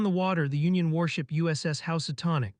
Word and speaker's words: USS Housatonic: Out on the water, the Union warship USS Housatonic, pronounced Housatonic, sat at anchor as part of the blockade.